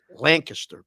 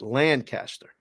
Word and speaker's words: Lancaster: And only the pros know it's pronounced Lancaster, PA, because it looks like Lancaster.